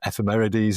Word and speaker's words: ephemerides: And your pronunciation is correct. Ephemeris is what these things are, and ephemerides is what a lot of them are.